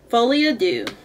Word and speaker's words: Folie à Deux: pronounce pronunciation of it so fly Adu is French Folly ad do let's see what that